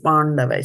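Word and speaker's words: पाण्डवाः: It is not pan as in the pan, that beetle nut, Pāṇḍu. the beetle leaf. It is Pāṇḍavāś.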